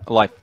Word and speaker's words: Leif: The French call me Leif. The Germans call me Life. And the Americans, Leif.